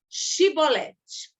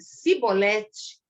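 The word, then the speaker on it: שיבולת: Se ele respondesse que não, diziam: então diga Shibolete. Se ele dissesse Sibolete, sem conseguir pronunciar corretamente a palavra, prendiam-no e matavam-no no lugar de passagem do Jordão.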